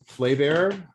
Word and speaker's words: Flaviar: So one of the things in doing that in my little deep dive is I found an interview that Flaviar, thank you for pronouncing that correctly.